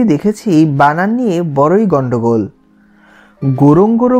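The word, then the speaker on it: Ngorongoro: গোরং গোরো বলেছে উচ্চারণের সময়, কিন্তু বানান লিখেছে এন গোরং গোরো।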